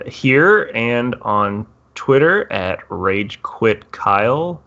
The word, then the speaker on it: ragequit: and on Twitter at ragequit Kyle the quit is spelled a little dumb it's kwi t it is not rage wit kyle as some mistaking it